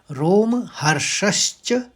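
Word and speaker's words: रोमहर्षश्च: दो शब्द है देखिए रोम हर्षश्च श में आघात है तो पहले श निकलेगा और फिर च में खत्म होगा और जायते तो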